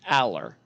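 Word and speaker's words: Allar: wrong at least initially so it's Aller that that is my understanding of it and James Franklin mispronounces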